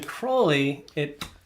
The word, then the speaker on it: Crowley: So the Crowley, which rhymes with holy.